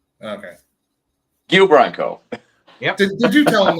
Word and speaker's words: Guile Branco: Can you pronounce his name correctly? It's Guile Branco. Okay. Guile Branco.